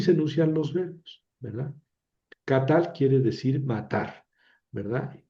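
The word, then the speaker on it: קָטַל: Catal quiere decir matar, ¿verdad? Y son dos sílabas. K, que es una sílaba abierta porque termina en vocal y tal, que es una sílaba cerrada porque termina en consonante.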